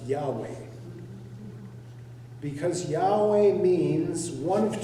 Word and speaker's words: Yahweh: have to gu in most people believe the word would have been pronounced Yahweh because Yahweh means one